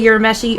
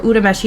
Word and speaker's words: Urameshi: of Yusuke green, because Yusuke Urameshi, or Urameshi, depending on how you pronounce it, always wore green.